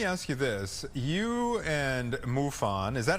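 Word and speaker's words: MUFON: You and Muon, is that how it's pronounced? MUFO.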